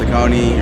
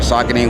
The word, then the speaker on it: Saucony: New Balance, Asics, Saucony, or Saucony, whatever way you want to pronounce it.